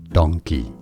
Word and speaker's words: donkey: Donkey. That's a donkey, donkey. So donkey versus monkey. Can you hear the difference of the ang sound for monkey versus the ong sound for the donkey?